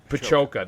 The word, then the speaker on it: Pajoka: I think it's Pajoka. Pajoka. That's right, Pajoka.